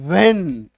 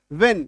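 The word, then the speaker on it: when: हम लोग गलती क्या करते हैं? इसका उच्चारण हम लोग करते हैं व्हेन ह लगा के व्हेन है ना गलत उच्चारण है सही उच्चारण क्या होगा व्हेन ये क्या है गलत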